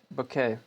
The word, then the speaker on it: bouquet: Also, for information, bouquet is pronounced bouquet.